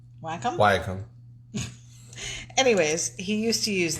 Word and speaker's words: Wacom: com or waycam but it's how do you say it you say wacom what was it it's called a digital drawing pad it's called a white wacom wacom anyways he used to